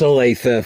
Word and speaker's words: Olathe: And they'll have their uh uh practice facility out in uh Olathe. It's pronounced Alethea, folks.